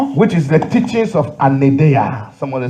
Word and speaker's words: Anaideia: au troisième point, which is the teachings of Anadea. Someone say les enseignements Anadea. d'un anédéa. Anadea. Anadea. Les enseignements d'un anédéa. Anadea.